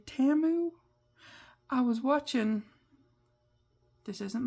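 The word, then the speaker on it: Temu: for that company and they were pronouncing in the name of it TAMU and I go oh I've been saying it wrong for so long I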